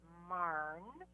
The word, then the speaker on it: Maarn: yeah, I'd say last year my favorite was Marn. It's that's spelled Maarn. It's an orange dahlia, and it lasted longer than some as a cut flower.